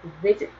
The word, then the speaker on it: visit: 살펴봤는데 이거 역시 사전의 발음을 들어보면 visit 그래서 앞에 강세가 있어요.